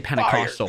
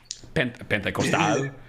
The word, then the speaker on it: Pentecostal: churches where it's like they call it Pentecostal. In my opinion, it's like dude, we say Pentecostal. Fire. Pentecostal in English. Okay. Pentecostal. I've never heard it pronounced with a Spanish accent.